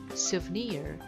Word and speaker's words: souvenir: 실제로는 쟤는 souvenir 이렇게 발음하는데요.